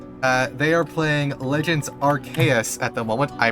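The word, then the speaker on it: Arceus: Uh, they are playing Legends Archus at the moment. I pronounced it correctly for once.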